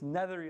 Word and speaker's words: Nethery: h e r y it's nethery like feathery Z has no coins